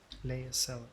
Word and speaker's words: Lae'zel: Lae'zel is delightful. In a very look at me twice and I'll dismember you kind of way, of course. Lae'zel. Okay, so that is her pronunciation.